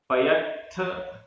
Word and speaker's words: पयत्थ: पयत्थ आधा त थ, पयत्थ लक्षण कराऊ, लक्षण कराऊ, पयत्थ लक्षण कराऊ।